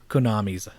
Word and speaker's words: Konami: It's Konami.